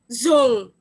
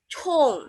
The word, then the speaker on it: zhong: Nah, begitu ketemu huruf ini, nah, ZHONG, kita bacanya zong gitu ya. Padahal bukan seperti itu bacanya ya. Kalau kita memang bacanya zong ya. Tapi kalau di bahasa Mandarin tidak seperti itu. Tadi ZH berubah jadi apa? Che gitu kan. Jadi bacanya chong. Seperti itu. Iya. Jadi bukan zong gitu ya.